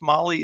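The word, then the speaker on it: MAHLE: And for everybody listening to this, Molly is spelled M-A-H-L-E. Molly, M-O-L-L-Y, Motorsports is a completely different thing.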